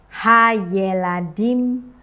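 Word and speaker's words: הַיְלָדִים: Nah, ini pun juga saya akan membacanya dengan e pendek untuk sevanya ya. Hayeladim, walaupun di sini tidak ada titik likutnya ya.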